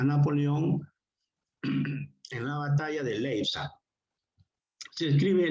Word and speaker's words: Leipzig: en la batalla de Leipzig. Se escribe Leipzig, ¿no? Con IP al final, pero como es alemán se pronuncia Leipzig.